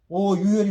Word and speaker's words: 오유혈: 그래서 흔히들 이 오수혈 하는데 이것이 우리말이 아니고 일본식 발음이야. 일본식 발음. 그래서 우리말에는 차라리 오유혈이 맞다.